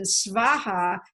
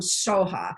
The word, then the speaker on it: svaha: honest read Sanskrit but over the centuries the Tibetans have developed their own pronunciation so for whatever reason svaha has become so ha so often they say